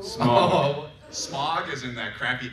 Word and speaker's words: Smaug: How do you pronounce the dragon's name? Smog. Smog is in that crappy air in LA? I thought it was Smaug.